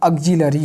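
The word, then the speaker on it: auxiliary: यस, आप ध्यान रखिएगा, इसका प्रोनाउंसिएशन ऑक्सिलरी है। हेल्पिंग वर्ब भी बोलते हैं, लेकिन लियरी लिखते हैं, बट इट इज़ ऑक्सिलरी।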